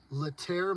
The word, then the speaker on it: Laetare: This Catholic university annually awards the Latter Medal honoring distinguished service to country and church. Name this university. I may not be pronouncing that right. It's Laetare.